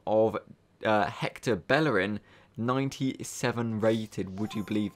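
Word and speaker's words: Bellerín: We'll have a quick look on Foothead on Bellerin, as he's pronounced.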